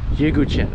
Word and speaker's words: Yeghouchian: Yeghouchian.